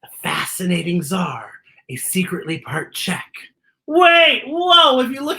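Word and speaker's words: Czech: czar a secretly part check wait whoa if you look at that line it says check and check is spelled with c z what i don't understand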